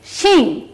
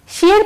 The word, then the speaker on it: শিং: এই যে দেখো আমি কি বলছি, শিং, শির পরে আমি অং ধ্বনি উচ্চারণ করছি, অং, তাহলে কি হলো, শিং।